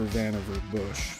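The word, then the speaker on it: Vannevar Bush: Vanver Bush. That's spelled V A N E V A R B U S H.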